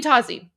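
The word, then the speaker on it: تازی: Just literally literally the same pronunciation as Aussie Osborne. So Azie, but now you just say you just add a T in front of it.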